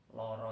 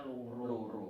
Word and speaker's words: lara: Loro sakit ya Pak ya. Loro, lara. Ya. Itu tulisannya pakai A. Vokal A. Bacanya loro. Jangan salah nulis pakai huruf vokal O. Karena nanti membacanya luru.